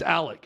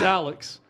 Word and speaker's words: Alex: up every time I hear him say it's Alec no it's not it's Alex you'd have to change your name legally to